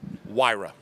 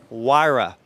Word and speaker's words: Huayra: tour of the Pagani and you've got to pronounce the name for me again wyra wyra fast as a win basically all righty well